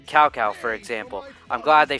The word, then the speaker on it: Cao Cao: A lot of the names they couldn't even pronounce right, with the West voice acting like Cao Cao being pronounced Cao Cao, for example.